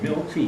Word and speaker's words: Milkey: Yeah, It's pronounced Milky.